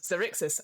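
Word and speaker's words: Xaryxis: this life obsersious uh lights are zerixis that is what it's called really is it is it is cyrixis and you know how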